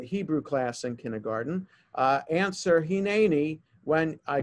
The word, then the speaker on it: hineni: That vertical line tells you that's the syllable that's emphasized. So in other words, we don't pronounce the word hineni or hineni, because the vertical line is there. In the second syllable, it's hineni.